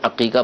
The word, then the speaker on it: عقیقہ: سارے لوگ عقیقہ کو حقیقہ بولتے ہیں، ہاں سے بولتے ہیں، تو یہ ہاں سے حقیقہ نہیں ہے، عین سے ہے، عقن عین قاف، اس سے عقیقہ بنا ہے، ہاں نہیں ہے، تو یہ تلفظ غلط ہے، عقیقہ بولنا چاہیے۔ باقی تفصیل کے ساتھ